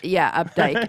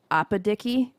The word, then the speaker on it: Opdyke: You know Opdyke Road? Yeah. And over here. Right. Updike? Updike, exactly. My cousin one time called it Opadicky.